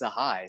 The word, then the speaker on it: Sahay: Sahay? Yes. I mean, the stumble was hilarious, but it is Sahay, so you had it right. I did, and then I started questioning myself. Sahay.